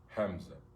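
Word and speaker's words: همزة: Hamza. If you want to know how to spell it, it's Alif, Lam, Ha, Mim, Za, or Zay, okay?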